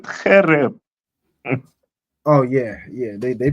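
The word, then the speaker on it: חרב: It's going to give me Karab, right? That's the most common word for sword. That's the word you would use. Okay. They pronounce it Khereb.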